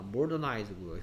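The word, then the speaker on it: modernize: 아이의 발음이 여기에서는 이 발음인데 여기서는 아이 발음입니다. 모더나이즈고요.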